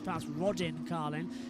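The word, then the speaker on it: Rodin Carlin: Yeah, in the Roden Carlin as well or Roden Carlin. I pronounce I've been told Roden Carlin because they're northerners as well which is what I am technically but accent sometimes shows it.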